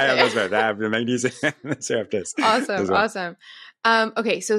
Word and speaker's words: Serrapeptase: Serrapeptase.